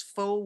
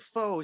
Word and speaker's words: faux: she could have easily told me, oh, it's faux wood. You all know that word faux. I see it. It's very, very folk looking, this thing. But the word faux is spelled F-A-U-X, and we think of it as just fake.